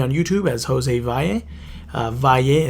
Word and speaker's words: Valle: Valle is spelled Valle. For those of you that haven't caught on now, it's like Valley but without the Y.